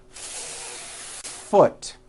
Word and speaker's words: foot: Do you see how long I am holding that F? Now I know that's a little bit exaggerated, but you get the idea. You need to hear the air friction.